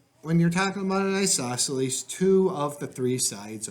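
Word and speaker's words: isosceles: So, number two, the isoselles.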